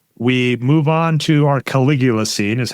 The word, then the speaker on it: Caligula: We move on to our Caligula scene is how you say it.